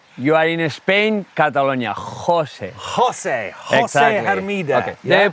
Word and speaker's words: José: those rocks so from merida to hermeda josie hermida former world cross country champion let me correct you you are in spain catalonia jose jose excited okay the pronunciation of the name